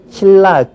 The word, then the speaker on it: 신라: 들어서 우린 신나라고 쓰죠 분명히 쓸 때는 니은 니은 받침에 리을이 연결돼요 이런 것은 우리 한국 사람은 이런 발음을 아주 싫어해요 그래서 누가 가르쳐 주지 않더라도 자연스럽게 어떻게 발음하는 신라 그렇게 발음하죠 니은을 리을로 바꿔 버리는